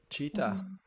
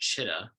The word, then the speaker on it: Chitta: Want to say it's pronounced Chitta, as far as my understanding of the name I've adopted. One more time, please. Chitta. Chitta. Yeah, it's from Chitta. the Sat Chit Ananda.